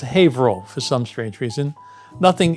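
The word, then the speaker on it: Haverhill: ha Hill like the spelling in England but pronounced havo for some strange reason nothing in Massachusetts is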